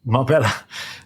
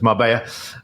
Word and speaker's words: Marbella: people may call it Marella it's Double L obviously in Spanish that's pronounced with a Y sound so it's Mara very uh popular very